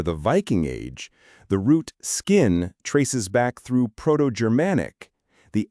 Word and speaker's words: skinn: The Vikings are coming, and they're not just bringing axes, they're bringing Old Norse, skinn, pronounced almost exactly as we say it now.